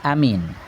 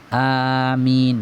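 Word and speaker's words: آمين: panjang pula di mim Amin jangan pendek di Amin jangan Amin Terus kalau Amin terus maknanya aman tapi kalau a panjang di A dan panjang di min min mati Min bertemu dengan ya mati bacanya Min Amin kabulkan Ya Allah artinya kalau Amin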